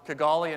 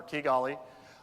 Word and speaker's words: Kigali: One of them is Rwanda, Kigali, and now I know I've mispronounced it thanks to the other speaker from Kepler, Kigali.